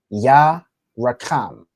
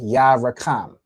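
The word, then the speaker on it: ירחם: For this next word, okay, this next word is pronounced ya rakam. Okay, ya rakam.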